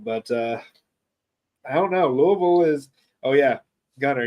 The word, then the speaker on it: Louisville: uh I don't know Louisville is oh yeah Gunner you have to say it like you you have something in your mouth Louisville not Louisville Louisville but uh PA